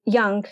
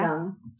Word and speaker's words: Jung: Jung, yeah. Jung.